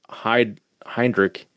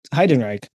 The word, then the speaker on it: Heidenreich: And also, I think I've been pronouncing your last name wrong for 3 years now. I think I say it as Heinrich. Maybe I guess it is similar. Heidenreich. Heidenreich. Yeah, so I don't say it right.